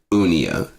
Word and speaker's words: Unea: I don't mean it's Unia, Unea. That's how you pronounce it. Unia is pronounced Unia, but it's spelled Unea.